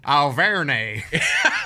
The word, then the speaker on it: Auvergne: Auvergne. That's exactly how you would say it. And It's and Auvergne. and Alvernay is how I'm going to pronounce it.